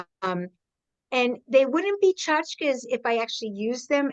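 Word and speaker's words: tchotchke: a story called No chachkas for Tanta Trudy and my mother always pronounced it chachka I've heard it pronounced chachki but my mother always pronounced it chachka the plural being chachar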